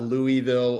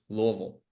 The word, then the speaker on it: Louisville: who haven't lived there the way you say Louisville the fewer syllables the more local you are so it's not Louisville or Louisville it's Louisville Lille loville loville great great